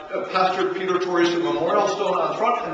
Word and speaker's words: Torgerson: grandfather kept on teaching all the British and American missionaries, it's not Torgerson, it's Torgerson.